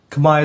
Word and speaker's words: Khmer: in the comments below kamay is literally how he's supposed to pronounce it not Kam zela which